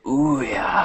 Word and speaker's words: Ouya: The Ouya. Oh yeah, that's it. I always get the name wrong.